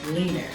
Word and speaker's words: Lean Her: And lastly, we have what I like to call Lean Her, or pronounced leaner.